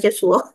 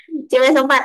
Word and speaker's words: CuSO4: Bacanya CuSO4 ya, bukan Cesuo. CuSO4.